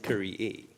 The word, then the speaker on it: Kyrie: And she's reminding me that the correct pronunciation is Kyrie.